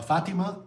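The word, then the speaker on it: Fátima: Uh Lisbon, Obidos, uh Nazare, uh Albatasa, uh Fatima, and Kar.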